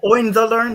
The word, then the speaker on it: Hohenzollern: How do you pronounce it? Oh, Hohenzollern, the German host.